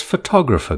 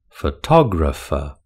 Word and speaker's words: photographer: How many syllables has photographer got? Photographer has got four syllables. photographer. Which syllable has the main stress in the word photographer? It's the second syllable that has the main stress in photographer.